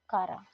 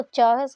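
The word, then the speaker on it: Chara: आपको, Ulothrix, spirogyra and कारा. ठीक है, ठीक है. वैसे तो इसको चारस की साउंड देता है, दैट इज चारा, लेकिन इसको हम कारा भी बोलते हैं.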